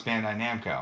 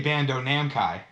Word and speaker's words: Bandai Namco: Now it's Bandai Namco. Yeah, but so I say Bando Namkai.